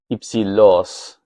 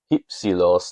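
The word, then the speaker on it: ὑψηλός: And so if we're going with Erasmian pronunciation, we'd say hypsilos.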